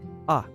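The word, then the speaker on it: あ: is ah or ah it's the equivalent of the vowel a in English you pronounce this as ah is a short vowel let's pronounce writing it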